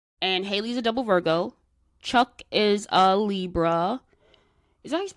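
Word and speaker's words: Chuk: I thought it was something different, like a different version but it was still pronounced Chuck.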